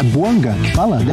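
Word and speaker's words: Bouanga: E tá certo a minha pronúncia. É Boanga que fala, né? Boanga.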